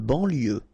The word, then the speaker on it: banlieue: De banlieue, okay, final E not pronounced, so I-E-U, I-E, L, lieu, banlieue, de banlieue.